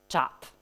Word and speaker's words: JWT: take a look at the RFC, the suggested pronunciation of JSON Web Token acronym is the same as the English word JWT.